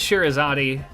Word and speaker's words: Scheherazade: You can use the pronunciation from Aladdin. How does Robin Williams say? He says Scheherazade. He says Scheherazade had 1,000 tails, right?